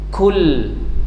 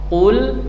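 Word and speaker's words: قُل: Kalau kul maknanya makanlah pakai kafl. Kalau qof qul katakan qul. Nah, jadi pengucapan qf dengan kaf ini yang sering terjadi kesalahan ya, tidak terasa bahkan menjadi kesalahan yang besar, kesalahan yang berat.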